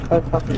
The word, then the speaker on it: Owhata: Owhata.